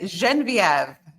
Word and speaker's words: Genevieve: I'm going to have her because it has a little French twist. So, Miss Yes, would you please pronounce your first name? Yes, it's Genevieve.